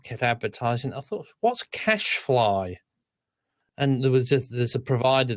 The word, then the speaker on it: cache: Computer cache, but we say cache, but you'd say cash. Yeah, here we always say cash, CACHE.